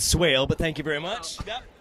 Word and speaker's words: Swaile: want to pronounce it for some reason make my name sound fancier I've gotten Swahili before too go figure okay so